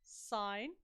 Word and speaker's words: sin: want you to press sine or sit it looks like sin on your calculator SI n but it's it's pronounced sine and then just the